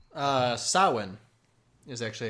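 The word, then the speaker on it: Samhain: Halloween's origins come from the Celtic festival for the dead called Sam Han. Uh, sawin is actually how you pronounce it.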